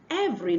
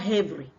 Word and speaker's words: every: likes what you're doing the next one is every not heavy cannot be saying heav whereas you want to say every the next one is